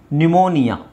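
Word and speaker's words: pneumonia: cupboard ಅಲ್ಲ ಕಬಡ್ ಹಾಗೆ ಇಲ್ಲಿ P silent ನ್ಯೂಮೋನಿಯಾ ನ್ಯೂಮೋನಿಯಾ ನ್ಯೂಮೋನಿಯಾ ನ್ಯೂಮೋನಿಯಾ ಕೇಳಿದ್ದೀರಾ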